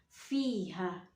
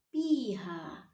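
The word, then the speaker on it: فيها: Kita harus membacanya fa, fiha, bukan piha.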